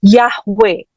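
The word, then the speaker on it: Yahweh: keempatnya adalah he lagi ini kalau dibaca secara komplit dari kanan ke kiri kan bacanya kan jadi nya yhwh atau yang kita tahu sebagai yahwe kita sering Ya Dengar tahu ini ya nama Tuhan yang di mana sebetulnya Enggak ada vowelnya enggak ada vokalnya enggak ada a i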